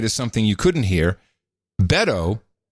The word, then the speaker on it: Beto: to pronounce it now it's Beto Beto yeah it's like saying Roberto you just dropped a row and the or Beto